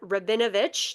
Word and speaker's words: Rabinovich: We are so honored to have Arsen Rabinovich.